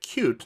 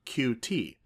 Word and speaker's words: Qt: the context of cute notice i'm pronouncing it cute not q t a lot of developers